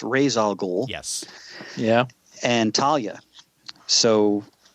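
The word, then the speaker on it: Ra's al Ghul: I believe this is how he wanted to pronounce razal gou yes yeah and Talia so I mean the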